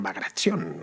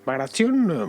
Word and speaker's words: Bagration: Este general era Piotr Ivanovich Bagration, o pronunciado en ruso creo que dicen Bagration, una cosa así.